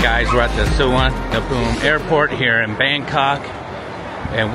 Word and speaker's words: Suvarnabhumi: Suvarnabhumi Airport.